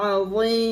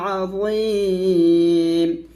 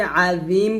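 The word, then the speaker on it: عظيم: পাতলা হবে, যালিকাল ফাওজুল আযীম। এখানে আমরা অনেকে আজিম বলি, তো আজিম বলা যাবে না, আজিম বললে এটা জালের উচ্চারণ হয়ে যাবে, এটা জ উচ্চারণ করতে হবে মোটা করে।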